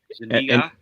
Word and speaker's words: Zuniga: Daphne Zuniga, that's how you pronounce her last name.